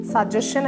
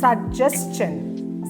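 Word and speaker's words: suggestion: second syllable ആണ് യുജിജിഇഎസ്ടിഐഎൻ സജഷൻ അല്ല സജസ്ൻ സജസ്ൻ അങ്ങനെ സ്ട്രെസ്സ് ചെയ്യേണ്ടത് സെക്കൻഡ് സിലബിൾ ആണ് മൂന്ന് സിലബിൾ ആണ്ഉള്ളത് മിഡിൽ സെക്കൻഡ് സിലബിളിന ആണ് സ്ട്രെസ്സ് ചെയ്യേണ്ടത് സജസ്ൻ എൻ ടി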